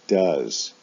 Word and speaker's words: does: For the S form, they both have OES as their ending, but do is pronounced does, go is pronounced goes in the S form.